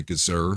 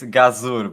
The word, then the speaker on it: Gazur: Um, but again, you know, ladies and gentlemen, this is Alexandre Gazer. Hopefully, I'm I'm pronouncing that right.